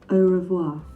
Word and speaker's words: au revoir: us questions and mario marios how do you pronounce this a revoir au revoir au revoir au revoir what happened to